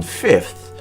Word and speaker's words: fifth: While some people do in fact pronounce the second F in fifth, the first pronunciation that you'll find in many famous dictionaries omits that letter.